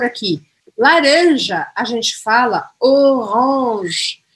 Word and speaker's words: orange: O E no final não tem acento, eu não pronuncio. A última coisa que eu vou pronunciar é o G, que está aqui, e eu vou falar orange, orange, orange. E o R, né? Faltou falar isso, o R arranhado, orange.